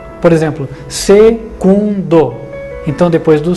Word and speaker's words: secundo: Você usava a letra V como U, porque o V não se pronunciava como V. Então, quando você fala em latim, segundo, o U se faz com a letra V e não com a letra U.